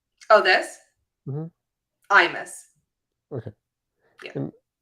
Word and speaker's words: Imas: By the way, how do you pronounce her name? Oh, this? Mm-hmm. Imas.